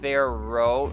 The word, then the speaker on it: Pharaoh: It's hard to pronounce, or just hard to know how to spell that word, because the second A doesn't really get pronounced. Pharaoh, the H doesn't get pronounced either.